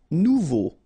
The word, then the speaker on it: nouveau: Nouveau. Remember, combination of A and U together, it's O.